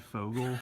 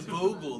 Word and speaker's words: Vogel: That's how you pronounce it. Vogel. Whatever the weird ass. Wasn't that the kid's name in Superbad? Fogel? Gangsters, what's up, guys? No, it's a Vogel.